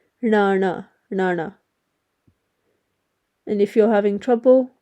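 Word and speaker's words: ਣਾਣਾ: letters but it's pronounced Nana so you flick your tongue from the roof of your mouth down almost touching the your bottom teeth Nana and if you're having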